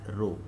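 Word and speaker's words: ρ: We can use symbol D, or sometimes we use like this symbol that is pronounced as rho.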